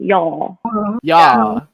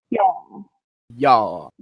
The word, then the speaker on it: y'all: l you gotta have it's like y-a-w y'all like you would pronounce it when the l comes afterwards but you say a w sound almost but not a complete w sound y'all wow what's up y'all